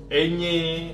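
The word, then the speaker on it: eñe: Terus ada juga di sini N yang ada gelombangnya itu Enye, ya.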